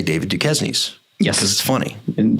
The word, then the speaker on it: Duquesne: the case kick us off we know it's pronounced duquesne we know it's located in pittsburgh but here